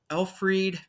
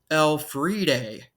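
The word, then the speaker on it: Elfride: married a woman named Alfred Petrie which I completely butchered it is actually pronounced L Friday Petrie um this was not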